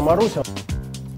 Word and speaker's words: Marussia: Мараша-параша. Не Мараша, а Маруся.